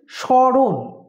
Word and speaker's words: স্মরণ: সূত্র আছে সেটি হলো ম ফলা যদি শব্দের প্রথমে থাকে তাহলে অনুনাসিক উচ্চারণ হয় কিরকম যেমন লিখেছি স্মরণ উচ্চারণটা হচ্ছে স্মরণ এখানে কিন্তু আমাদের অনুনাসিক